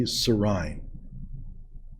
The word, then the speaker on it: Sirrine: williams and jennifer d sarin i think it's pronounced sari at any rate she's